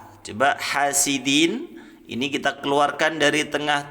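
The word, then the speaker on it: حاسد: pangkal gigi seri atas kalau ada yang baca hasidin ini juga salah ya terlalu tinggi itu ya lidahnya ucul lidahnya terlalu ketinggian ke langit-langit gitu ya tanda bacanya Din hasidin ya jadi ujung lidahnya disentuhkan ke Pangkal gigi seri atas sama dengan tak Bo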